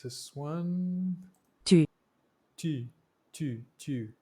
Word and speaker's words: tu: Tu. Tu, tu. The oo is a little bit more like tu, tu.